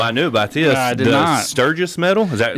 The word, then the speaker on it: Sturgis: The Sturgis Medal.